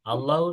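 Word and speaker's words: الله: বলেন, আল্লাহ শব্দ পড়ার নিয়ম হচ্ছে দুইটা। কয়টা? বলেন, দুইটা। দুইটা دوتا একটা হলো মোটা উচ্চারণ, বলেন ভারী উচ্চারণ। কি উচ্চারণ? ভারী উচ্চারণ। আরেকটা হলো পাতলা উচ্চারণ। পাতলা উচ্চারণ মানে আমরা নর্মালি যেটা পড়ে আসছি আগে, লাম ফাথা বা লাম লম্বা ফাথা লা, আর কি আগের যেটা ছিল সেটাই থাকবে, এটা হলো পাতলা সাউন্ড।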